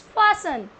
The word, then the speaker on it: fasten: It's fasten.